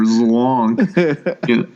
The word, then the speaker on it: Zlonk: You got to get the L sound in there. Zlonk.